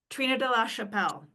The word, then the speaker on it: Trina de la Chappelle: Trina de la Chappelle. Trina. Yes. Two minutes. You You pronounced my name well.